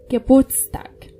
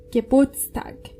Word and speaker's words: Geburtstag: However, in the word birthday, it's used and pronounced. Geburtstag. Try it again. Geburtstag.